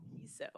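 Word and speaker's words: KISO: How do we pronounce K ISO? Is that KISSO? KSO. KSO. Woo.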